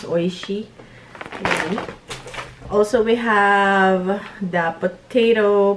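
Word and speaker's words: Oishi: Maybe this I can eat this baked nut fried potato fries from Oishy as well growing up we we pronounce this but actually in Japanese it's oisy.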